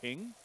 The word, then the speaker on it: PNG: It's just like I thought I thought this was normal and I thought, you know, saying ping was a valid pronunciation of PNG.